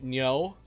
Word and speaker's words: Ngo: I am playing against Nyo, I believe his last name's pronounced. I always say it wrong. But, and his last name's spelled NGO, I believe.